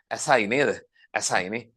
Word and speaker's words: asci: How do you say ascus? Asai.